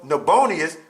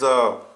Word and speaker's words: Nabonidus: So Nabonius, which is how you say it, is Nabonidus.